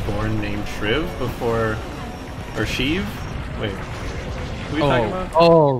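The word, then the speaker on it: Sheev: named shriv before or shiv wait oh oh right it's shiv not cheese i don't even know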